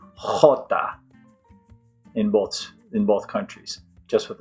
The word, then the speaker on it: jota: All right, so the name of the letter J is Jota. So right there you hear the sound of it in the name. Jota. It's like our H in English, and you can say it like the H if you want to. Jota, Jota, Jota. It's just a little bit raspier, I would say.